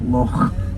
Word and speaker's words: loch: we have a lot it's spelled l-o-c-h but it has to be said with that very raspy sound at the end of it La Lomond so again this is the Lomond area lock moment and there are